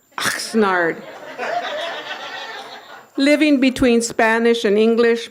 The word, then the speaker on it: Oxnard: She knew what it meant to be from a town pronounced like hawking up a loogie, Oxnard.